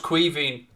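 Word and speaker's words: Caoimhín: it's kevin it's kevin it's the irish way of saying kevin but it's pronounced cuiving fabinho across left-hand side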